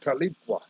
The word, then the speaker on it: Tahlequah: Hell, I went to school talking leaves Job Corps up there in Tahlequah, Oklahoma. Yeah, it's pronounced Tahlequah, which in Cherokee means two is enough.